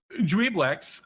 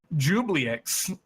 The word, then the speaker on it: Juiblex: So Juiblex, also commonly mispronounced as Jubliex, is called the Faceless Lord.